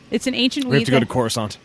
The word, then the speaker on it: Khorasan: I'm not sure how to pronounce this. I'm going to try. Khorasan wheat. It's Khorasan.